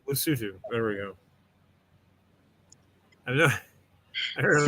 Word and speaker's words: Lesotho: Lesotho. Well, The THO is two. Hoodoo, Lesotho.